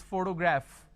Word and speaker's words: photograph: For example, if I have the word which is photograph, photography, photographer.